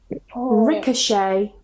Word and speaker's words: ricochet: So if they end with a T, we normally don't pronounce it.